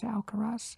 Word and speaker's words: Alcaraz: you can see um alcaraz is that that you pronounce alcaraz exactly yeah he did a